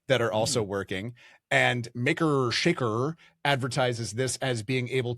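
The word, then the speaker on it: Makr Shakr: There is another model from the company that makes him, which is Maker Shaker. I'm pronouncing it that weird way because it's spelled MAKR space SHAKR and Maker Shaker.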